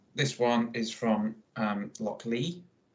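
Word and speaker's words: Lochlea: one is from um Loch Lee I'm gonna say pronounce it l-o-c-h-l-e-a so I pronounced it yeah um it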